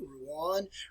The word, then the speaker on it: Rouen: All right, and then not such a major battle, but a smaller one took place in 1418, which is called Rouen.